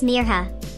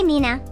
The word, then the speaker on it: Mirha: couldn't say it right they stretched out the eye until it sounded like an e and there are sounded wrong some people even forgot the H hey Meo MEA Mayha